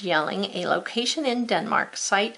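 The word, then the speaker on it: Jelling: So I'm not going to write a Y though. I'm going to make it a J, and it's a place, so yelling.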